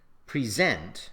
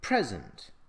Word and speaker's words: present: For example, we say record as a verb, record as a noun, object as a verb, object as a noun, present as a verb, present as a noun.